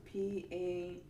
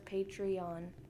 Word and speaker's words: Patreon: It's called Patreon, and you spell it Patron. No. Yes. Did you? Oh, you said E. No, it's P. Patreon. I thought it was Patron. That's patron. No, it's Patreon. Correction. It is Patreon.